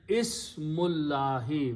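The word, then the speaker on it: اسم الله: Then you read them together and do not pronounce this alif in between. So it becomes Hamzatul Wasl. You combine Mim with Lam. So the combination is Ismullahi.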